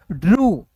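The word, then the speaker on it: drew: यू के रूप में ड्रू ठीक है यहां पे देखिए ड्रव नहीं पढ़ेंगे क्योंकि आर के बाद ई डब्ल्यू है दोस्तों तो ड्रिव नहीं ड्रू उ ऊ के रूप में उच्चारण करना है दोस्तों समझ गए तो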